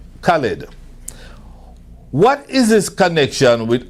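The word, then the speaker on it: Khaled: now, just like them, DJ Khalib, I'm pronouncing his name right? Khalid.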